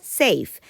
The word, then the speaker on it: safe: eso no se pronuncia se hace esto se pronuncia safe por tanto yo lo pronunció con un golpe